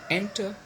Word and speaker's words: enter: Enter, okay, enter, so it has got two syllables, n and ter. The first one is stress. Of course, the second one is not stress because it has got schwa sound.